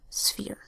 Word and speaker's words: sphere: Instead, the E makes a long E sound because there's a silent final E over here, and you have S, F, E, silent final E, sphere.